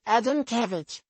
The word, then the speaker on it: Adamkiewicz: Someone got up during Q&A and said, I thought I'd let you know that the artery is pronounced Adamkiewicz. The speaker said, well, you're wrong.